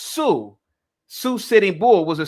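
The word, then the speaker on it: Sioux: Uh is a famous Indian tribe out west pronounced Sue.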